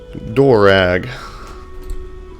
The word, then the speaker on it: Dorag: Our name will be Dorag, because it rhymes with Thorag.